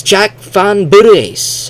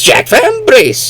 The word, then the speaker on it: Jack Van Brace: So instead of saying van brace it's fur. And so the direct translators, the translators of the game, they would they keep saying, "Oh, it's Jack Van Burice." And they say, "Oh, Jack Van Braice." No, dumbass. It's Jack Van Brace.